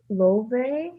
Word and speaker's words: Laufey: And then the song is called Magnolia by Love. It's spelled Laufey, and she's part Icelandic.